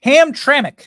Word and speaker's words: Hamtramck: at peace there's a place called hamr Hamra Hamtramck sorry about that Hamtramck sorry it's a unique it's a unique name maybe it's an Indian name I'm not sure ham traik Michigan that is the correct pronunciation uh this is one of the few